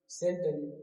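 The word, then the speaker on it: scent: सेंट मारते तो होगे ना सेंट पर, सेंट है ना, सेंट तो सभी को मालूम होगा। सेंट का मतलब क्या होता है, सुगंध, ठीक। तो यहाँ भी सी क्या है, साइलेंट है।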